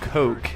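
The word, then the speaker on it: Koch: well heckler and coke as it's meant to be and meant to be pronounced but uh i'm a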